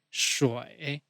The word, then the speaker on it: 水: 水 shi wei shui. Keep your tongue retroflex when pronouncing.